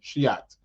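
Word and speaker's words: Scheat: Yeah, it's called Shiat. Yeah, I know. I'm not saying the word that you think I'm saying. Yeah, that's the pronunciation, Shiat.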